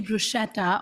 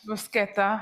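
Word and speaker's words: bruschetta: here oh my gosh brusketa I learned the pronunciation of it we had a class earlier this week she said brushetta on this stage with the Italian crew and they all went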